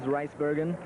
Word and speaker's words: Rijsbergen: The official pronunciation of the name is Rijsbergen.